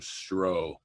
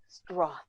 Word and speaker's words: Stroth: Your husband just pronounced my last name Stroh. Hans, you suck fucking balls, Stroth.